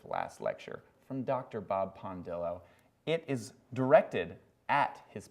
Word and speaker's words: Pondillo: first of all is pondillo spelled as it sounds p n then Dill d i l l like dill pickle then o like I think I